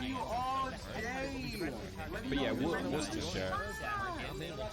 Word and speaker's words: Worcestershire: But yeah, Worcestershire. You have to just get used to the fact that it's just like one syllable for the whole of the word.